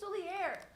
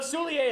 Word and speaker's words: Soulier: You don't even know how to pronounce Liam Soulier. I thought it was Soulier. It is. He's French. Soulier. It is. It is. It is Soulier?